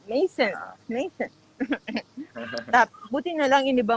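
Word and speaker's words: Maison: Kung i-pronounce mo parang. Mason.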